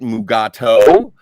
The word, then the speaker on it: Mugato: either that's so awesome in the script it was like mogatu but he pronounces it mugato and so it always